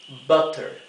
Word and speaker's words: butter: Butter. Como tenemos una doble T después de la U se pronuncia bien cortita.